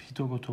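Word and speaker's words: 人事: Tanin goto yazıp hito goto okunuyormuş.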